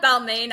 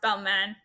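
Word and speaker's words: Balmain: are the jeans by Balman I call it balain I know it's pronounced Balman but my French is beyond horrific as you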